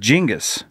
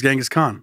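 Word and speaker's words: Genghis: Kong jingus yeah it's jingus it's genas it's pronounced jingus it is jingus yeah oh really yeah I just didn't want to correct you I've always thought it was genas Khan yeah that's what most people think it's a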